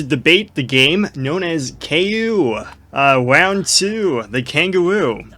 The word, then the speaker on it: Kao: or is it ko how do you say ku or ko uh when i saw people say its name i i hear the name cow like collect cal i assume it must be ko because you know it's